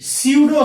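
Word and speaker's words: pseudo: इसी को सर हम लोग बोलते हैं स्यूडो सॉलिड। इसको हिंदी में बोलते हैं सर आभासी ठोस। आभासी ठोस, इसका सर पी साइलेंट होता है।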